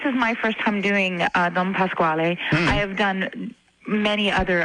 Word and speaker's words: Don Pasquale: In the Manitoba Opera production of the comic opera, Don Pasquale. Did I pronounce that properly?